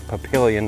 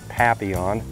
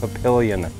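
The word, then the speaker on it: Papillion: out of Pilon Nebraska yes I pronounced that right it's Pilon not papion I've been called out on that before but haha no I'm right it's pilion not p on but like I said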